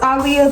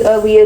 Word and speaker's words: Aliyah: It's pronounced Aliyah, but people call me Aliyah because they don't know how to pronounce it correctly, but that's them.